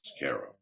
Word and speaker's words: Cairo: small town called cairo spelled like cairo egypt pronounced cara well charles came up to visit he was